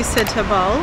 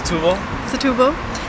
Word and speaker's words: Setúbal: Hey guys, so update, we've made it to Setúbal. Is that how you pronounce it? Pretty close. Setúbal.